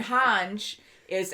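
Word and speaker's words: Hange: like it sometimes but hanj is han ji zoe and then burt holt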